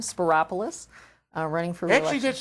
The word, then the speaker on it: Spyropoulos: Spyropoulos is easy. It is It rhymes easy. with Metropolis. And also my doctor's name was just Christopoulos.